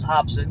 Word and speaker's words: Robson: channel uh you know said that it was Hobson because of you know the Brazilian pronunciation of the RS like an HRA so I'm calling the